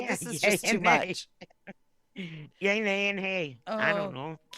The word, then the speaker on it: Ye: yeah no it's E I think he pronounces it yay as in here's how